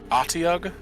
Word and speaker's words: Otyugh: Oh, I guess it's pronounced Otyugh? Otyugh? Okay. Otyugh. Interesting. I guess the H is just there for fucking fun.